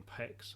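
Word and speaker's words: Pécs: I'm thinking of the actual, was it, you were in Pex, I believe, is that how you pronounce it? In Page, yes.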